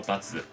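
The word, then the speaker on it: 罰: 사용 될 때 , 보통 은 ' 바츠 ' 로 발음 되지만 , 예외 적 으로 ' 바치 ' 로 발음 되는 경우 도 있습니다 . 그게 언제 죠 ? 'bachi ga ataru' 라는 관용 표현 을 사용 할 때 만 예외 적 으로 'bachi' 로 사용 됩니다 .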